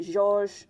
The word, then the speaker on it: Georges: They spell it like the name George, but they add an S and they pronounce it Georges.